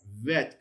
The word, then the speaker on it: vet: Vet, correct, because it's not got the dot, there's not the dagesh lene, so that becomes a V sound, not a B sound.